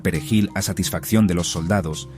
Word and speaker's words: perejil: Los hablantes nativos de criollo haitiano, cuyo idioma se basa en el francés, a menudo tienen dificultades con la R vibrante del español. Aquellos que no podían pronunciar perejil a satisfacción de los